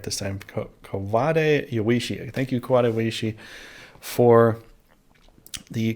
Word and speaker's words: Kawade Yoichi: to say his name right this time ko kovade yawishi thank you kawaishi for the conversation and the